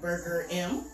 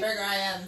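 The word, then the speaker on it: Burger Im: Saying Burger I Am for there's months. A whole explanation. Okay. But they emphasize the IM, so yeah, naturally.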